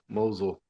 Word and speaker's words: Mousel: Pronounce it for me again. The last name, Mousel. Mousel.